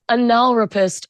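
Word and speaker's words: analrapist: It's pronounced anal rapist on the show.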